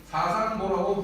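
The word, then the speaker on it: 師尙父: 사상보라고 불렀습니다. 저기에 보이는 아비자는 경칭으로 쓸 때는 보라고 읽어야 합니다.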